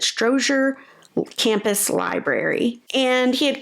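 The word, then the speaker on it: Strozier: to just the campus stroer I believe that's how you pronounce it stroer Campus library and he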